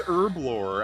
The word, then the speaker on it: herblore: RuneScape YouTubers I'm like it's not herblore it's herblore and then I look it up and it's like oh wait no the people in the UK just pronounce the h oh no herb with